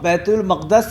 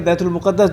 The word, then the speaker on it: بیت المقدس: آپ بیت المقدس یا بیت المقدس دونوں تلفظ صحیح ہیں.